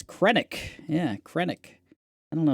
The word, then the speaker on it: Krennic: And then just to like Krennic is just on another gross level, you know, like chef's kiss, man. Yeah, that's that's good stuff. Uh yeah. Uh, I put Kennek. It's Krennic.